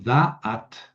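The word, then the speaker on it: דעת: Por ejemplo, el acento cae en la primera en la primera sílaba, delet o daat.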